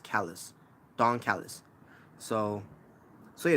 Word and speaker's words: Callis: I keep saying Callis every time, by the way. It's actually pronounced Callis.